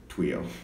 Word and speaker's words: TWIO: oh wee oh oh what the heck do you pronounce it while while it's actually just tuile TW